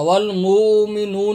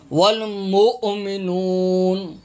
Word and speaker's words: والمؤمنون: ہیں ہرے کلر کا، یہ حمزہ ہے، حمزہ کے اوپر جزم ہے، یہ واو نہیں پڑھنا، یہ واو نہیں پڑھنا۔ والمومنون نہیں ہے، والمومنون یہ تلفظ نہیں ہے، والمؤمنون، والمؤمنون، والمؤمنون۔ کل آمن